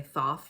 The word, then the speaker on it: Thoth: And I believe that's how you say his name because of my past life. I think people say Thoth now, but I say Tote.